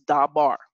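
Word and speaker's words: דבר: just drew out and the above example was da bar word matter or thing right and so the first syllable da the dollar in the comments is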